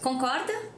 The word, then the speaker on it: concorda: Or just concorda? Agree? And the answer is eu concordo or eu não concordo. Also, the word concorda has the same pronunciation as with rope.